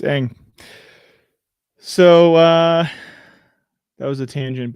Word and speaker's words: Ng: In English, it is usually pronounced as Ang. Ang. I know, it's Ang.